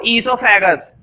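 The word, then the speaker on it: oesophagus: तो ध्यान रखना जब हम ईसोफेगस की स्पेलिंग की बात करते हैं तो इसकी शुरुआत ई से नहीं होती है, ओ से होती है, यहाँ पर ओ साइलेंट होता है।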